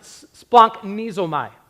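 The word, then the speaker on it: σπλαγχνίζομαι: Here's how you pronounce it. Splanknizomai.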